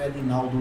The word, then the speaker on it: Ednaldo: EDNALDO, o meu Edinaldo D é mudo, Edinaldo, Buscou, já entra na página e tem as informações iniciais.